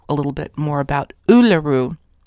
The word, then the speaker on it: Uluru: taken me quite some time to get that pronunciation right uluru Australia right smack in the middle of this